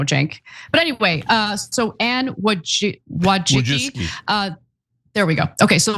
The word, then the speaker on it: Wojcicki: But anyway, so Anne Wojcicki.